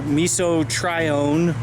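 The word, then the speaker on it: mesotrione: I'll use tenacity or miso trione or Tri one depending on how you want to pronounce it um but I actually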